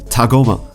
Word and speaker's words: Tagoma: Okay, so Tagoma, I need to make sure I spell this, I pronounce this correctly. Tagoma.